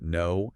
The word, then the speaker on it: know: And it's similar with words like know, having information, versus no, the opposite of yes. Right, where you have that strange silent K.